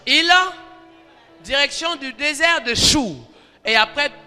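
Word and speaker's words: Schur: On appelle ça le désert de Chour. Chour, ça s'écrit S-C-H-U-R.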